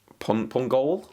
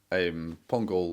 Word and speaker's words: Pongolle: Pongolle? Is that the? I can't remember. Florent Sinama Pongolle? No? Pongolle. Yeah, I believe that's the pronunciation of that one.